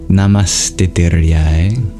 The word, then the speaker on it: namastitiriyai: But I should have you know now that whenever you have a visarga before a T, it becomes the letter S. So you'd actually pronounce it Namastitiriyai. Because when you breathe out and your tongue moves towards your teeth to make a T sound, then your exhale becomes a dental sibilant S.